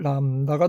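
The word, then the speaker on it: λάμδα: 없어요 오늘 남다라 그래요 엘 발음이 나는데 여러분의 혀를 위에 잇몸 그 바로 안쪽에다대 가지고 쓸 때는 한자의 대립자 쓰는 것처럼 이렇게 씁니다 그러면 람다 명칭은 람다가 되겠습니다 람다 그 다음에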